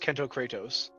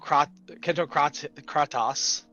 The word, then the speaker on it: Kento Katos: diver um oh like my name is actually pronounced Kento katos um but I've I've had like Kento Kento katas um Kento C cryos uh Kento kryos is probably my favorite one um but yeah there's